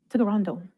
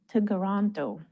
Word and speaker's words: Toronto: Here are some of them and their correct pronunciation. Toronto. Toronto.